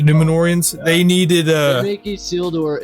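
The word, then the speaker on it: Númenóreans: Oh, and the Numorians, I said it wrong. The Numenorians, they needed they make Isildur a bitch.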